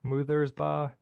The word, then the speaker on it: Muthersbaugh: It's pronounced moo like a cow, ba like a sheep, Muthersbaugh.